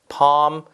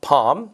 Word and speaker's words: palm: calm, palm 그렇죠? calm, palm 다 비슷한 말로 보시면 되겠습니다.